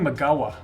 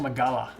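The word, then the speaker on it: Migała: like gabby is getting magawa by the way not magala it's a silent l i know i butcher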